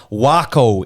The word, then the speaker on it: Waco: course The Prodigy presents wo in Texas I think that's how you say it right like taco yes wo yep wo is way